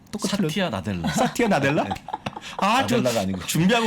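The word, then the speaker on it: Satya Nadella: 나티아 사델. 아니요. 사티아 나델라.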